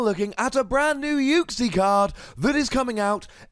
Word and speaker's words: Uxie: at a brand new uke C card that is coming out in Sun and Moon five plus a Pokemon the Iowas pronounced hook c but it turns out it's actually pronounced uke c so when I inevitably